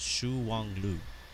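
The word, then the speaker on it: Shuangliu: me thank you live as he says it's pronounced Shu Wang Lu right well aren't they have good food Chris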